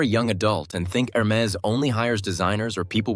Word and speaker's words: Hermès: This is Hermes, pronounced Hermes. You do not pronounce the H sound.